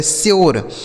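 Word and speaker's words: sure: एस यू आर ई तो एस से हो गया दोस्तों स इस यू का उच्चारण हो गया यू आर ई से र ये लिखा गया श्योर एस यू आर ई श्योर ठीक है डी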